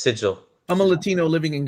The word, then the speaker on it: Sigil: Pronounced Sigil.